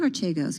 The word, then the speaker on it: Archegos: about what that archegos i'm saying archegos because scott pelley on 60 minutes i think said it that way so i'm going with that pronunciation because that's been one of the big debates around here about how you say it but anyway i'm saying